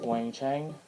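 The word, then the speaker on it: Weng-Chiang: got the talents of wangcheng which is how I've been told to pronounce I someone was at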